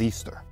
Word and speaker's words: Ishtar: The queen of Babylon, aka Madonna, aka Semiramis, became known as the moon goddess Ishtar, which can be pronounced as Easter.